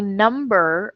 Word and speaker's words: numb: thing is you have in the word numb you have a silent B okay so if you